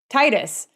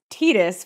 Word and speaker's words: Tidus: All of us in the United States would say Tidus. But then later they came out and said that it was Tidus, which is awkward sounding in English, and we'd all been saying it wrong.